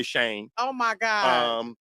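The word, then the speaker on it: Chene: We say Shane.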